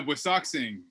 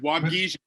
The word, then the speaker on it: Waubgeshig: Can you help me with the pronunciation on that one? Yeah, Waubgeshig, and it's Waubgeshig and Waubgeshig.